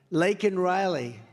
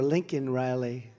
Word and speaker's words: Laken Riley: Laken Riley. And, you know, Biden was unable to pronounce her name, called her Lincoln Riley.